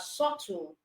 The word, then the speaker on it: subtle: silent then you have subtle B is also silent in subtle all right then we